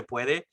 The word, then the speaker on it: puede: like in a certain area, and she was like, "Si sin puedes" or something like that. She like Oh, sí se pronounced, puede.